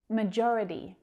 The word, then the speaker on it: majority: Majority. Majority. That second syllable is stressed.